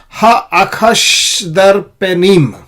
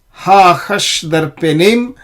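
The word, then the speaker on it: האחשדרפנים: pronounce the shwa, ha-achash, this is a silent shwa.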